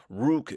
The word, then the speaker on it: Rook: Rook. Rrook is how you say it.